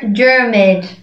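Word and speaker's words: Diarmuid: foremost we have german germud germaid sounds like pyramid your first guess was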